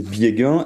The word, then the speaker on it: Biegun: Alors oui, rectification, mon nom c'est Biegen et voilà. Ce qui est marrant, c'est que vous le prononcez à l'allemande et ma femme est allemande, c'est très bien et elle le prononce très bien par contre.